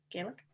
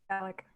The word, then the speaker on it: Gallic: Gallic? Gaelic? Gallic. It's a very Irish shrug.